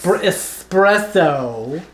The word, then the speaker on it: espresso: This is espresso.